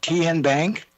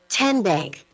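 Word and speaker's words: TNBank: How do you say the name? Kien Bank. Nope. Kin Bank. Uh-uh. So, what is it? 10 Bank. 10 as in Tennessee.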